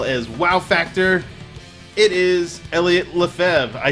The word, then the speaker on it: Eliot Lefebvre: It is Eliot Lefebvre.